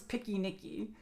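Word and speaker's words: piquenique: So like picnic becomes picky Nikki. So like P it's spelled P I Q U N I Q U. Picky Nikki, but picnic same thing.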